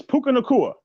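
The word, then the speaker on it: Puka Nacua: and bride did I say right Pabu it's puka nakua is in here I'm saying it correctly lessons what's happening thank you for stepping up welcome to platform 246.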